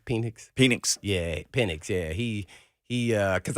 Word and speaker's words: Penix: Yeah, so Yeah, Phoenix. I mean, how you pronounce his name? Penix? Penix.